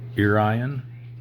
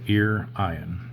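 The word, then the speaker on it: Iârion: So Irian. Yeah, like Ryan, but with ear in front of it. So Irian.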